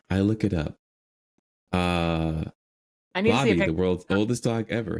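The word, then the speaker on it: Bobi: and I was like it rhymes with doggy anyways it's Bobby they still didn't make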